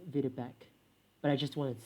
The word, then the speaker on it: Videbech: Actually, I think that's pronounced as Videbek, but I just wanted to say the word bitch, because that's who I am.